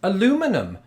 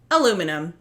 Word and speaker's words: aluminium: now here's the thing I pronounce this aluminum because it's spelled aluminum but if it was spelled the British way aluminium I pronounce it thus aluminium there really is only